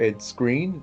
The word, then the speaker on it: Ed Skrein: warrior who's played by Edie Grine or ed skrein that's how you pronounce his name and I thought he